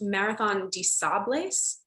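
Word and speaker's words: Marathon des Sables: the next question and is it pronounced marathon de sables yeah marathon disabled yeah marathon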